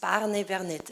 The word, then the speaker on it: Barnevernet: want to learn, and this is Barnevernet. Am I saying it rightly? Yes.